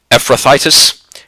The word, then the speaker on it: Ephrathites: name of his 2 sons Mahlon and Chilion, Ephrathites of Bethlehem, Judah. Hope I'm pronouncing that correctly. Ephrathites, it's Ephrathites, of Bethlehem, Judah.